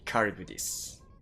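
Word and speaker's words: カリュブディス: Yeah, I need to use the Japanese pronunciation. Karibudis.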